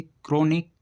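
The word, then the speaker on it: chronic: जब किसी वर्ड के शुरू में सी एच के बाद आर आए तो सी एच को का से पढ़ते हैं। ऐसे क्रोनिक क्रोम क्रिश्चियन क्रिसमस क्रिस्टुलाइट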